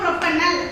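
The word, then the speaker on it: propanal: இது எப்படி ப்ரொனவுன்ஸ் பண்ணனும்னா ப்ரோபனல்.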